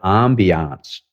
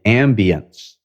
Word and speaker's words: ambiance: it's all about creating the ambiance or the ambience if you prefer french or english pronunciation so you're looking for